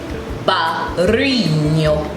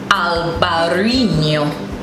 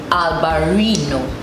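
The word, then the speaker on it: Albariño: So it's Albarino. Albarino. So if you're having difficulty in rolling your R's, you can probably say Albarino.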